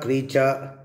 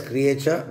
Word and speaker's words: creature: Nature, creature. Some will read as creature, but the correct pronunciation is creature.